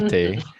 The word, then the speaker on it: Tate: of your last name, Tate, you had Yeah. told me that what was it that you said? Well, tate, it's pronounced the way, it rhymes with latte.